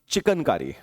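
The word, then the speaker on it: chikankari: तो चिकन नहीं बोला मैं, चिकनकारी। देखिए स्पेलिंग में गड़बड़ मत करिएगा, चिकन, ये पंछी, चिकन हो गया, ठीक है ना। और यह है CHIKAN, चिकनकारी।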